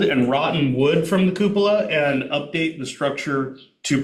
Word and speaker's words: cupola: Their application is requesting financial support for Can you tell me how to pronounce that word? Cupola.